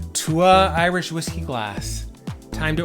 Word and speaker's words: Túath: It looks like Túath, Tuath, but it's pronounced Túath.